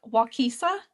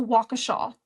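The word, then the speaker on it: Waukesha: So, when I said the name of the town last episode, I think I said like Wisa or something like that. That is not the name of the town. It's a Wakaaw.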